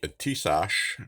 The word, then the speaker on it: Tisas: And this is the Tisas, as it's pronounced.